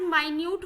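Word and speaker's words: minute: तो इस वजह से स्पॉन्ज हैज माइन्यूट होल्स. ठीक है, ये मिनट नहीं है, ये माइन्यूट बोला जाता है इसको. जो बहुत छोटे होल्स होते हैं उनको माइन्यूट इसको प्रोनाउंस किया जाता है.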